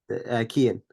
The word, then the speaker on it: Kean: ask your question and tell how to pronounce your name Kean Kean okay no wonder you didn't